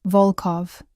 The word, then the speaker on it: Volkov: Volkov, the O sounds deep and round.